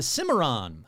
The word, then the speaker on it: Cimarron: Picking up the pace to Cimarron. I think that's how you pronounce it. Cimarron, New Mexico.